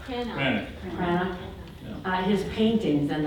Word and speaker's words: Cranach: Cranach.